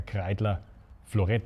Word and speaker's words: Kreidler Florett: Why a Kreidler Florett? I probably pronounce it German. Well, that's the proper German pronunciation for the Kreidler.